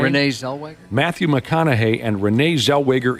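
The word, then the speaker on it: Renée Zellweger: Renee Zellweger.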